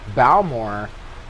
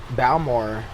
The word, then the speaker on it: Balmore: then and then so then Bao more that's how you say it in English yeah you know it's about more than my grandma would call me it bow more I never offered junior